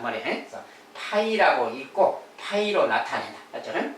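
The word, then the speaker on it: φ: 그리고 공집합은 이제 별도로 파이. 자,요 글자는 파이라고 읽습니다. 파이.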